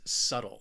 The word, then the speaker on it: subtle: for you is subtle this word has two syllables and the stress is on that first syllable subtle say it with me subtle what this word means is it's something that is well not noticeable or not obvious in any way but what is obvious is why this word is often mispronounced and it's because of that b it is a silent letter a silent be you